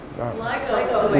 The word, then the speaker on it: LIGO: Is it pronounced LIGO or LIGO? Do you know? LIGO.